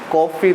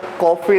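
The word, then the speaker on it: coffee: इसका कॉफ़ी नहीं काफ़ी, क्या बोला जाता है, काफ़ी।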